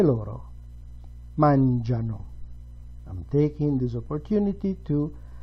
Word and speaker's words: mangiano: E loro mangiano. I'm taking this opportunity to signal, to underscore that the very last form, loro, takes the stress on a different syllable.